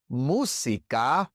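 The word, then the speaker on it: música: It's the same in musa and teono. Musa teleono. In these two words, we also stress the third to last syllable.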